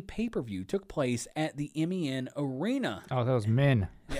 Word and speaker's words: MEN: WWF Rebellion, a UK-only pay-per-view, took place at the MEN Arena. Oh, that was men. Yeah. I think it's pronounced M-E-N, but it's all capitalized men in Manchester, England.